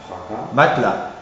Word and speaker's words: matelas: Attention aussi pour la graphie AS, où le S final n'est pas prononcé, et seulement dans les cas suivants. Hein. Pour les terminaisons verbales, tu lis A sans plus, tu iras, tu parleras, et dans quelques mots comme bras, chat. Et aussi par assimilation à un A antérieur, et donc on lira aussi la terminaison fracas, matelas. Fracas, matelas.